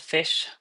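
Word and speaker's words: Phish: About a year ago, I found out about this band called Fish, spelled with a ph.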